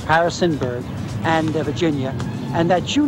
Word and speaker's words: Harrisonburg: from a small town they pronounce it wrong Harrisburg Harrisonburg Harrisonburg and Virginia and that